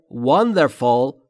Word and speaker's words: wonderful: دقت بکنید تلفظش رو. Wonder تلفظ W لبها حالت بوسه. Wonder و full و نه fool.